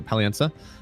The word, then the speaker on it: Palienza: I think there's no I apparently at the end there as I pronounce it. So Palienza.